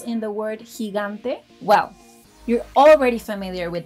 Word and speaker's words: gigante: Now, did you notice that letter G has two different sounds in the word gigante?